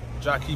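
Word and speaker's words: Jakie: so the Jackie that's basically almost like Jackie basically but just pronounce Jackie yeah we're out to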